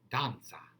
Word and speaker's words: danza: danza all right it it's a bright italian ah danza and then so it's like pizza all right and notice